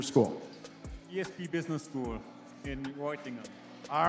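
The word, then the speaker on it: Reutlingen: ESP Business School in Reutingen.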